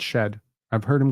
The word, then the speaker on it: Shead: shed uh um so a lot of people have said Jamal sheid it's it's not sheid um Jamal shed highlights I believe it's shed I've heard him called